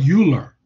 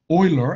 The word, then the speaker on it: Euler: euler okay it's not euler right it's pronounced euler it's german name you know i mean